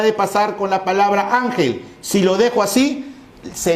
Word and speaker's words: ángel: Ángel. Entonces mi sílaba tónica, am.